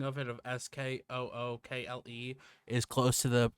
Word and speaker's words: Schuylkill: But it says sounds like Skookl.